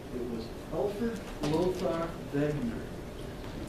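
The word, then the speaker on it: Wegener: to remember his name it was Alfred loar begner W is pronounced as a p because he's German and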